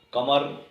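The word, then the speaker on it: کمر: پہلا لفظ ہے قمر۔ کاف کتاب والے کے ساتھ یہ لفظ لکھا جاتا ہے۔ قمر اس کا درست تلفظ ہے، یعنی کاف پر زبر ہے، میم پر زبر ہے اور رے پر جزم ہے۔ یہ فارسی کا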